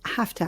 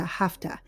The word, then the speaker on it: have to: go to work and by the way it's pronounced hafta hafta you have to go